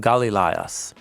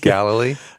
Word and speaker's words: Galilee: beside the Sea of Galileas. Oh, sorry, that's my translation. Galilee. Galilee. Yeah. Okay. Yeah. I'm trying to preserve in the translation the Greek pronunciation of all these people and places.